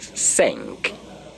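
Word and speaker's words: cinq: spell s e n k you can get sank can't you see it saying there okay but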